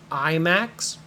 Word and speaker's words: IMAX: might ask is is the movie available in IMAX this is pronounced I Max IMAX means the screen is super super super